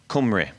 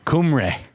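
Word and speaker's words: Cymru: do you say it is it KRA uh kumre kumre kumre that's that's just whales that's not like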